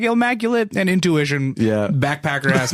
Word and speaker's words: Illmaculate: We were like Illmaculate and Intuition. Backpacker ass names. I'm good. It's true. You know, most people just mispronounce it Illmatic anyway.